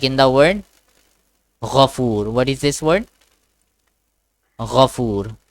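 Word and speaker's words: غفور: Instead of saying four, we say four. Okay, four. Because in Arabic there is nothing pronounced like that. Four. Okay, four is nothing in Arabic. Okay, it's foo. Foo.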